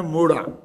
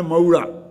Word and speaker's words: मोड़ा: देखो, एक मात्रा का उच्चारण है मोड़ा और दो मात्राओं का उच्चारण है मऊड़ा। अब वो है मोड़ा, मोड़ा मोड़ा, समझ गए ना?